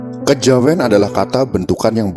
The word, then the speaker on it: Kejawen: Kejawen adalah kata bentukan yang berasal dari kata kejawian dengan Keluwesan lidah orang Jawa diucapkan menjadi Kejawen kejawean hakekatnya adalah suatu